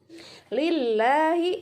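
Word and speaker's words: لله: Lillahi, ini tipis bacanya, jangan lillahi, bukan lillahi. Kemudian ayunkan, ini ada fathah berdiri, ya, ada fathah berdiri.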